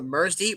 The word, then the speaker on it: MRSDY: What I have here is a microphone called the Mersdy, which is spelled MRSDY.